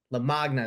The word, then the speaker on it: Lamagna: Like with me today, we got Lamagna. Is that how you say it? Yeah, close to that. Lamagna, like lasagna.